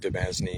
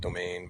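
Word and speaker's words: demesne: And that is a feudal tool to extend the king's authority to his I'm going to pronounce it dznney. It's actually pronounced domain.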